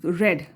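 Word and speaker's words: read: रेड, रीड रेड, रेड होता है, spelling same होती है लेकिन इसको रीड रेड रेड पढ़ा जाता है।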